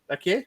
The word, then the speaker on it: Vaquer: Vaquer?